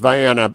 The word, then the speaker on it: Vienna: Vienna, Ohio, and it is pronounced Vienna in Ohio because we're from Ohio.